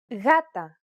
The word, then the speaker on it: γάτα: When it precedes an A, O, or U, however, it's pronounced like a loosely held G sound. Γάτα, γόβα, γούνα.